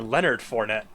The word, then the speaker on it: Leonard Fournette: may notice i picked someone who's named lines with rhymes with a bannered bornette uh yeah jacksonville star leonard fournette yeah he was still